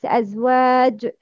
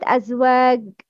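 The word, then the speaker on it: أزواج: It's Azwaj. Not Azwag. No, make Kalkala.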